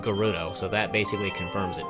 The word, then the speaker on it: Gerudo: time and a few others that feature the Gerudo it's pronounced Gerudo but some like to argue that Gerudo and